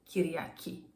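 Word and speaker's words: Κυριακή: the main day of the week Sunday is kiryaki.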